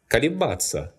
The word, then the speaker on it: колебаться: Колебаться, to oscillate or to hesitate. This verb is an exception and is stressed on the stem in all present forms.